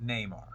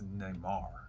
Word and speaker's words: Neymar: And then, now, it's not Neymar. It's Neymar. It's Neymar. It's Neymar. You just said it wrong the first time when we were doing the three show.